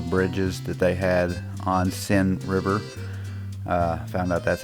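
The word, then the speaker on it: Seine: that they had on sin river uh found out that's how you pronounce that it is pronounced sin and you know it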